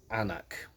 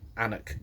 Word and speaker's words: Aonach: actually the oex and i'm probably going to pronounce the name wrong but it's the oex anak not anorak anik jacket there's the label as